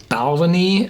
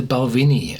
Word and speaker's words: Balvenie: here two terms are two sorts of pronunciation of the word Pavini and there's the balcony and the Balvenie and even at the distillery you hear both pronunciations um they had been